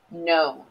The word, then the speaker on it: known: as you can tell you can't hear the k again known so try to think